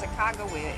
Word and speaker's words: Sacagawea: And they say, yes, Sacagawea is the way we ought to pronounce it.